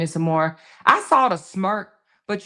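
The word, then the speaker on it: Moe: Mora?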